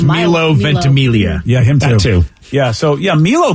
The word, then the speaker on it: Milo Ventimiglia: his name vicky i thought it was it's milo ventimiglia yeah yeah so yeah milo definitely i mean